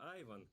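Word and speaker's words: Ivan: новым коллегой по цеху, зовут которого Айван. Да, имя Иван здесь почему-то произносят именно так.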